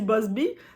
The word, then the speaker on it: Buzbee: de Tony bossby 2025 on dit bossby la prononciation dis non c'est guys mais là ça